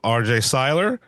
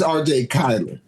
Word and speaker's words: Cyler: We have R.J. Syler, uh Nikki Masho, and Freddy Gibbs. I'm pronouncing everything right. Yes. Right. It's R.J. Kyler.